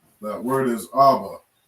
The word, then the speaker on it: Abba: All right, that word is Abba.